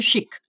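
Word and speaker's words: chic: चलो, इसको क्या पढ़ते हैं, इसको पढ़ते हैं शिक, इसको चिक नहीं पढ़ते, इसको पढ़ते हैं ऐसे,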